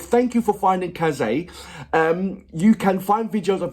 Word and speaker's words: Kaze: Kaze is pronounced like Kaze.